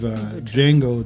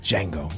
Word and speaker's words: Django: Yeah, it's Django. The J feet. Yeah. Cape Radiant ass name. Give him a whole new name and everything. Yeah, his name is Django. The D is silent.